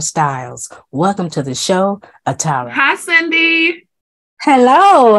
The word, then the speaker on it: Atarah: it's good to have you on and uh Atari am I pronouncing that right Atara Atara that's a beautiful name thank you so